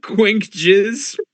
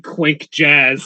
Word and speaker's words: Quink Jazz: But yes, if you're looking for one that you might not want to mispronounce, there is Quink Jazz. Are you sure it's not Quink Jizz? I'm confident it is actually Quink Jazz.